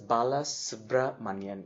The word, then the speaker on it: Balasubramanian: Last name is Balasubramanian. It's actually 3 names kind of joined together. So Balasubramanian.